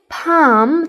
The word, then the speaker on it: palm: بكلمة climb يتسلق البي لا تلفظ، وبكلمة palm tree ال لا تلفظ.